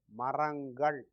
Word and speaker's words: மரங்கள்: Maram ends with a nasal. Ka is a hard sound. So naturally the sound needs a related sound to have a smooth pronunciation. So this nasal is turned into another nasal. So maram becomes marangal, plural.